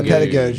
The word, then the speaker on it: pedagogue: Yeah, pedagogue is good. Pedagogue. Yeah, that soft G is good.